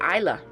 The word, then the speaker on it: Isla: I always call her Isla because I don't know, I forget to pronounce the S, but Isla.